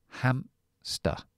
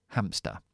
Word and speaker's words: hamster: Castellano Entonces esto es hamster hamster hamster hamster Aquí está r lo pronuncio si soy estadounidense y dira hamster pero yo digo con la shua al final hamsta Okay perro aquí pronunció